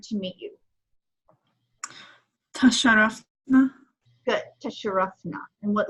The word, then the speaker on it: تشرفنا: Tasharafna, tasharafna. So you hear it twice, it doubles the letter.